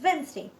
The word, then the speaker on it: Wednesday: For example, WEDNESTAY is pronounced as Wednesday.